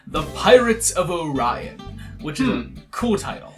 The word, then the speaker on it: Orion: Sorry, it's apparently the Pirates of Orion.